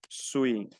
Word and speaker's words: suis: Sabemos que la S final no se pronuncia. Yo digo je suis.